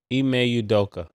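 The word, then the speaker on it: Ime Udoka: how you say his name one more time e may udoka eay yeah eay udoka yeah eay udoka it sound like homework what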